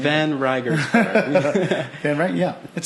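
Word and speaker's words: van Reigersberg: My name is van Riegersberg. I don't know how you pronounce that last name. Van Riegersberg.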